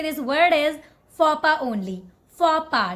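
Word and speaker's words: faux pas: the correct way to say this word is fopa only for PA not fox pass this one don't call it fiancee okay not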